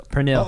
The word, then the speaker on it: pernil: So pernil. Oh, that Pernil. does it have that double Pernil. R? That Yeah. that tongue roll. Pernil.